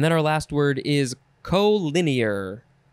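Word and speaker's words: colinear: our last word is co-linear co c-o-l-i-n-e-a-r co lin year co-linear adjective from 1927 number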